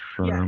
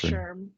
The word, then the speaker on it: SHRM: But the SHRM, I learned from Jessica that you can actually pronounce it as a word, right? Is it Shrum or Sherm? Yeah, it's Sherm.